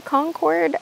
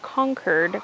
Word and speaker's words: Concord: these are concer grapes I used to say Concord um because here in North Carolina we have a city called Concord North Carolina and it's spelled the exact same way um but somebody from Massachusetts told me that these grapes are called conquered grapes named after conquered Massachusetts so sorry for the